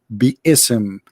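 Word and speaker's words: بسم: the shakes agree that the word is not Bim it is be ISM and let me show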